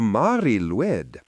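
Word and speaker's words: Mari Lwyd: This is the Mari Luid, one of the most haunting and peculiar Christmas traditions in the world. The Mari Luid pronounced roughly as Mari Luid translates to either gray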